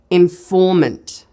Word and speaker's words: informant: take an example informant informant hopefully you can hear that the strongest syllable in that word is in the middle it's on the syllable form informant again I could